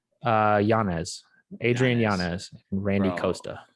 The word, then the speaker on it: Yanez: How do you say Adrian's last name? Is Yazes? Yanez.